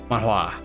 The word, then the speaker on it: Mahwah: see all right pronounced pronounced mon like Pokemon and Hua like saying what but emphasis on the what Mahwah I got it